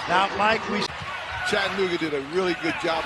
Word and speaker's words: Chattanooga: 4 syllables. That's right. Chattanooga.